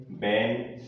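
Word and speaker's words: when: यहाँ देखें बैन, बैन में भी देखें एच के पहले क्या आ रहा है, डब्ल्यू आ रहा है, तो एच क्या रहेगा, साइलेंट रहेगा।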